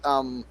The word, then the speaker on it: Chongqing: You look that up, but it is Chongqing.